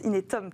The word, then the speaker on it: Inetum: Mes invités aujourd'hui sont Jean-François Gaudy, directeur innovation et digital du groupe Inetum, comment on prononce Inetum, très bien, société de services et de solutions digitales.